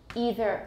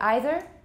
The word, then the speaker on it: either: say yes or no either some americans say either i think either is more common either sounds a little